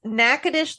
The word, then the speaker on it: Natchitoches: only seen it well there's nakadish Louisiana and Natchitoches or or uh wait no it's Natchitoches Louisiana but it's spelled Natchitoches yeah I would have guessed